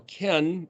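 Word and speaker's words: כן: Lamed means as, and Kaf Nun, pronounced can, is, or ken, means yes, so, truly, thus.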